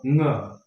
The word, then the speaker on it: ङ: इसको उच्चारण सिखाने के लिए बच्चों को अंग बोला जाता है, लेकिन इसका शुद्ध उच्चारण क्या है? ङ। ये नासिका से उच्चारण किया जाता है और कंठ और नासिका से ङ।